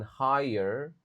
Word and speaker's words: higher: of online learning in higher. Di jadi di kata ini G-nya silent, G-nya enggak dibaca. Higher education bukan higher.